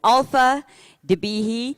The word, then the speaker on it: Qaalfa Dibeehi: I think I may have pronounced it incorrectly last night, but it's Qaalfa Dibeehi, Vice President serving customer experience professionals for Forrester.